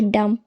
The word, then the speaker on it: dumb: तो फ्रेंड्स, जब भी एम के बाद बी आए तो बी हमेशा साइलेंट रहता है।